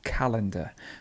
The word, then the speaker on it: calendar: And the stress would be on the first, so it's calendar. The stress is over here.